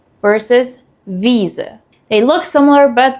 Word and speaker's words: Wiese: Weise versus Wiese. They look similar but sound totally different. So how do you tell them apart? EI is pronounced like I and IE is pronounced like E.